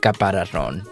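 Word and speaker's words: caparazón: which honestly I never used that word in my life, but it's caparazon. See, that is so weird to say it, but I guess that's how you say it.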